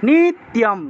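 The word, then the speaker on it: নিত্যম্: এটাকে অনেকে নিত্যও বলে ফেলেন, নিত্যও হবে না, নি তারপরে ত্য, নিত্য, নিত্যম, নিত্যম, এইভাবে হবে উচ্চারণটা।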